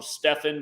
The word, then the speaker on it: Stephen: name spelled I know they call him Stefan but it's spelled just like Stephen um but again 113th day of his age the National Basketball Association 113.